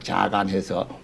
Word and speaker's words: Yagan: 그래서 칠레 마지막 해녀가 로자 ROSA 로자 자간해서 YAGAN 또는 YAGHAN 이렇게 쓰는데 발음은 그냥 영어로 하면 야간이지만은 그 스페니쉬로는 자간 발음을 해요.